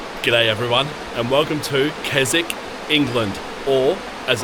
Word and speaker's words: Keswick: G'day everyone, and welcome to Keswick, England, or as it's spelt, Keswick.